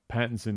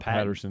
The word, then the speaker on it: Pattinson: that a bad abadan we always say his name wrong Pattinson not Patterson had it Pattinson Patterson